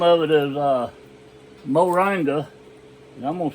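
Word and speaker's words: moringa: weather and the name of it is uh moranga and I'm going to spell it for you it's m o r i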